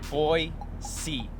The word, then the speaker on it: Boise: fruit is the huckleberry seriously guys there is no z in boise it's pronounced boy c and now it's time